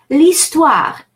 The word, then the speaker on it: l'histoire: L'histoire would be la histoire, but it's vowel, l'apostrophe histoire. And so notice how I'm pronouncing them as if they were two words,